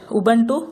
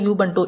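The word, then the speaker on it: Ubuntu: அடுத்து உபன்டு இல்லைன்னா யூபன்டு எப்படினாலும் ப்ரொனவுன்ஸ் பண்ணிக்கலாம்.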